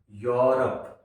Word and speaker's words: Europe: E+U अगर कहीं हो तो ई और यू की आवाज यू रहेगी किसी शब्द के शुरुआत में, ई की आवाज साइलेंट रहेगी, नहीं आएगी। जैसे EUROPE, यूरोप। यूरोप नहीं बोला जाएगा, ई को शुरुआत में साइलेंट रखा जाएगा, यू के बाद वाले वर्ड से आवाज निकलेगी, यानी कि यू से आवाज निकलना शुरू होगी, यूरोप।